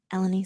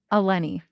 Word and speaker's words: Elenee: hearing a lot of different um pronounce or pronounces of your names and um we're gonna set the record straight so okay elenie say your name elenie oh it's elenie even I'm saying it wrong you're all good